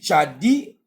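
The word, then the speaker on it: צדי: répéter page 47 répétez tadi tu peux dire tchadi ou Tchad ou tchade la prononciation varie donc alors vous répétez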